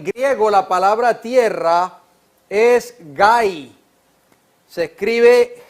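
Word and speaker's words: γῆ: En griego la palabra tierra es gai, se escribe G, H, A, Y.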